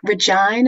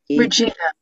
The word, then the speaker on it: Regina: Is your Regine? Is that how you pronounce your name? Regina. Regina with a hard G.